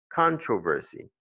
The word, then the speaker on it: controversy: L'accent est ici, sur le mot se lit controversy.